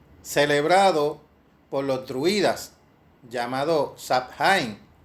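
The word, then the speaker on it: Samhain: por los druidas llamado shine aparentemente pronunciados a pan aunque algunos dicen que es a wind o show wing y aparentemente significa fin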